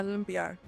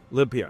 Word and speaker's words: Limpiar: i a r and it's a Spanish word right that's right how do you pronounce it uh limpar limpar yes yeah okay um